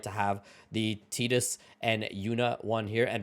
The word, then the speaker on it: Tidus: But if you actually listen to interviews with the creators of Final Fantasy, they call him Tidus, which I absolutely hate.